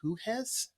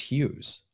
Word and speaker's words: Hughes: I got a piece of viewer mail from this guy, John Huhes, I I believe think. it's pronounced Hughes Oh, okay.